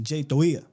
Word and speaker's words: Toia: I thought it was J toia but he said the way the way he pronounced it in the locker room to the media was it's like a a soft T more of a of a D. J toia.